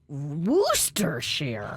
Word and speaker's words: Worcestershire: this is stupid and according to liam perry's it's worcestershire woostershare wooster sheer worst rooster shirt